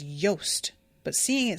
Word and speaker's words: Jost: Dawes had pronounced Jost as Yost, but seeing it spelled on the page, there was no mistaking it.